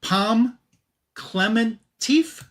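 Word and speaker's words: Pom Klementieff: Um Palm Clementif, I believe is how you say her name.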